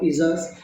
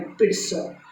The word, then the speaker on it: pizza: C Yeats lot ऑफ पिज़्ज़ाज, मैं आपको बता दूं ये जो PIZZA लिखा है अपन पिज़्ज़ा पढ़ते हैं, इसका सही प्रोनाउंसिएशन है पिट्सा, पिट्सा, पिट्सा, गूगल में चेक कर लीजिएगा।